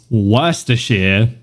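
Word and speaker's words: Worcestershire: Fun fact, I actually know how to say the the source from Britain that nobody knows how to pronounce. It's Worershere.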